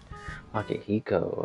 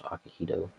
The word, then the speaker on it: Akihiko: Akihiko, okay. He kept wanting to say his name was Akihito.